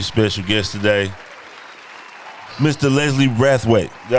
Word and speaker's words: Brathwaite: Leslie Wrathweight.